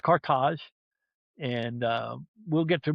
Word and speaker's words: Carthage: Cartage, by the way, not Carthage as Westerners tend to say, it's pronounced Cartage.